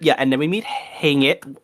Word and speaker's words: Haymitch: And then we meet Hang It. How do we say his name? Hey, Mitch.